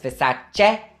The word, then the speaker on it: Versace: It's Versace, not Versace.